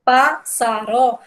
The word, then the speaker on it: pássaro: Quando eu digo pássaro, o pá é o mais forte.